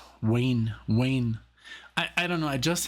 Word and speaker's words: Wainwright: I couldn't pronounce the W before. I mean, of course I could, but in Germany, you pronounce it as a, like, V. That's a V, like Wiener, Wein. And here's like a Wayne.